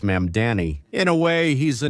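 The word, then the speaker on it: Mamdani: Well, like Ma'am Danny, even though I've said his name so many times, I always want to mispronounce it for some reason. But anyway, it's Ma'am Danny.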